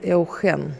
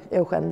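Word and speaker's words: Eugène: люблю двух Евгениев – Эухен Янсон и принц Эухен, то есть Евгений Янсон и… Или Эужен, наверное, правильно говорить. Эужен Янсен и принц Эужен.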